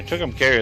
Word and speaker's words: Tucumcari: We're in Tucumcari, New Mexico. Tucumcari. Yeah, Tucumcari. That's how I was pronouncing the mayor, she's sweet as anything, might